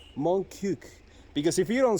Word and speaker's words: Montcuq: The thing about this town is that there's a debate in between the French of whether to pronounce the last Q on the name. How do you pronounce it? Montcuq. Montcuq.